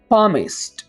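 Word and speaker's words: palmist: इस बोले तो दोस्तों यहां पर आपने तेल को बोलना है यहां पर इसको साइलेंट रखना है अब कैसे बोलेंगे प्रॉमिस प्रॉमिस ठीक है माहिर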